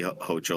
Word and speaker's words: Hochul: months after Governor Kathy hoel or hokel however you want to pronounce it began tearing the agency